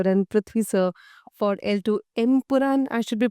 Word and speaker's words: Empuraan: introduce Mohanlal sir and Prithvi sir for L2 Empuraan. I should be pronouncing it right? Correct. Empuraan, yeah.